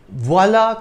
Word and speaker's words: voilà: When the accent grave is placed over an A or a U in French, it has no impact on the pronunciation of the letter.